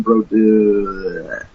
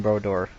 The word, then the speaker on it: Brodeur: New Jersey Devils goalie martin bro dude let me pronounce that it's martin brodeur okay all right i